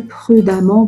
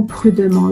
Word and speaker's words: prudemment: à prendre en considération une va prononcer prudemment prudemment il ya des élèves qui vont remplacer complètement le e par le 1 non faut pas faire ça alors pour lieu pour le